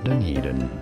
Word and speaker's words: Dunedin: Anyhow, how do you pronounce it? Dunedin. Dunedin is how it is said.